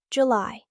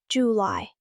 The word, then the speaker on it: July: July. The stress is on the second part. July like you lie.